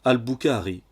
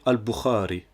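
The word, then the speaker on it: البخاري: Autre exemple, le son Ra est souvent transcrit KH, ce qui pousse les non-arabophones à prononcer Khaled pour dire Khalid, ou encore à prononcer Al-Bukhari pour dire Al-Bukhari, ou encore Khartoum pour Khartoum, qui est la capitale du Soudan.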